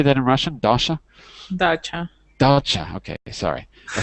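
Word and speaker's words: дача: Dacha?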